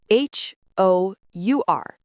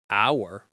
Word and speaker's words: hour: H-O-U-R. It starts with H. H is a consonant. But the H is silent. We do not say hour. We say hour. It sounds like O.